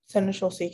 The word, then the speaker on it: seneschalcy: Seneschalcy, can I have all the information, please? Seneschalcy is the only pronunciation.